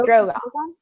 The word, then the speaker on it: Drogon: It's Drogon. Okay. Drogon. It always sounds weird because it's like Drogo and dragon because of Khal Drogo.